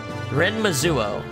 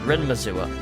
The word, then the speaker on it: Renmazuo: So this is the Renmazuo. That's how it's said. Renmazuo.